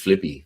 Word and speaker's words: Philippy: Sounds like he's Flippy. Philippy. It is spelled like Flippy.